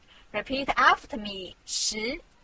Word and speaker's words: 十: This is its syllable 十. Repeat after me 十. 十.